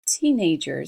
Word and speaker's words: teenage: Teenage, le i long, i, teenage, et le i court, visiting. Ok?